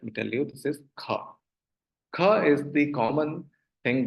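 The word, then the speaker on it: ख: And the common thing that is, let me tell you, this is kha.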